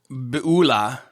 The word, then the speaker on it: Beulah: Beulah. Beulah. It's an interesting thing about Hebrew. The emphasis so often on the ultima, the last syllable, and it makes things sound extra cool.